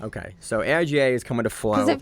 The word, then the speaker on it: AIGA: I think it's letters I think it's aiga acronym it's an acronym so I would say it's aiga okay so aiga is coming to Florida